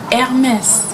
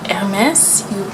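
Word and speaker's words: Hermès: at the end because generally in French for the most part you don't pronounce the S at the end of a word but MS it is just it's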